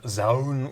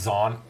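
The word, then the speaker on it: Zaun: Uh I'm going to play I'm going to present Zh Warren.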